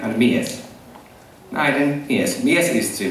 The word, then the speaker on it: mies: Oh wow, that's really good pronunciation. It's nainen and mies.